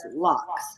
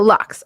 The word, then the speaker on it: Laux: Anyhow, Dorianne Laux, right? Like, that's good enough? Laux? Yes, it's absolutely right. I mean, it is French name. How do you say it? We say, my family says Laux. Oh, Laux.